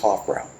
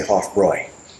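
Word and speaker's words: Hofbräu: It didn't taste like this when it was up against Hoffra or I should say Hoffroy for the German pronunciation.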